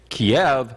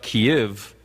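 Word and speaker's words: Kyiv: kiev depending on k-y-i-v yeah if you say kiev that's the russian pronunciation but kiev is the ukrainian pronunciation so kiev is what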